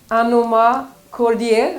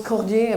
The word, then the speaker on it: Anomah-Kordieh: It's Anomah-Kordieh. Is that correctly pronounced? Good, great. I'm happy about that. I didn't know it was Cordier, maybe a little bit French touch.